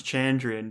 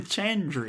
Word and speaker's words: Chandrian: know how to pronounce chandrian because it's the rhyme it's like what's their plan and then chandrian chandrian so you're like oh